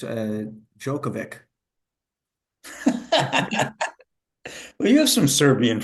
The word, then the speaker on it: Djokovic: it's a it's a jokovic well you have some Serbian friends you could check that yeah I know I know so do you say jovic or jokovic it's really jokovic it's not jovic it's jokovic I think in